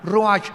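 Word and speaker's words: רוח: suena, con R de Raúl, CH al final, ruach, y se pronuncia ruach.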